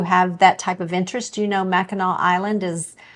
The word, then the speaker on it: Mackinac: Why do they spell it that way? It's with a C. Everybody knows that Mackinac doesn't end in a C, but apparently in Michigan it does.